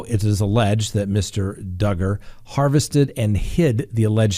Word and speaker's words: Duggar: talk about that's right josh duggar rhymes with hugger okay i said it